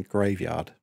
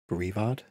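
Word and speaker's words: Greavard: I've seen some people pronounce his name Graveyard. And I guess it could be a play on words, but I wouldn't read it as that. I think it's Grievard.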